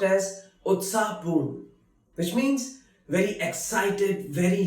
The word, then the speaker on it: उत्साहपूर्ण: Utsahpoon, which is pronounced as Utsahpoon, which means very excited, very lively.